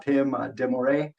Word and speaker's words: Pim de Morree: know really honored I would say to have Pim demore did I say it right yes very good